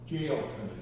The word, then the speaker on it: Jailton: Jailton is the way you would pronounce it in English.